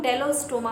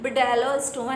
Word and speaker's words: Bdellostoma: B silent है यहाँ पे, BDELLOSTOMA, तो इसको हम डेलोस्टोमा बोलेंगे, बिडेलोस्टोमा नहीं बोलेंगे।